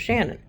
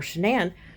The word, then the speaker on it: Shanann: I believe that maybe she changed it to Shanann, changed the spelling of it to Shanann, and therefore how it's pronounced instead of Shannon. But regardless, whether her name is Shannon or Shanann, Shanann is how she introduces herself.